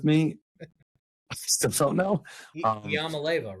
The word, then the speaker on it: Iamaleava: Iamaleava?